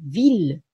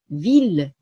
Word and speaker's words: ville: これは、ヴィル。ヴィル、ルと発音するんですね。